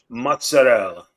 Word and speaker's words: mozzarella: I keep hearing that it's mozzarella or mozzarella. What's the real pronunciation for this shit? Because I can't figure it out. Call me back. Is it mozzarella or mozzarella? We know what that is. Let's see. It's mozzarella.